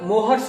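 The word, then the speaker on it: Mohr's: ये होता है FeSO4 × NH4 का होल ट्वाइस × SO4 × 7s2, इसको मोहर्स सॉल्ट कहा जाता है। मोहर्स सॉल्ट या मोर सॉल्ट भी कहते हैं, इसमें साइलेंट भी होता है।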